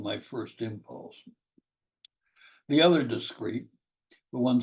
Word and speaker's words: discreet: Two words are pronounced discrete.